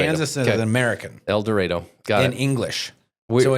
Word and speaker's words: El Dorado: El Dorado, Kansas.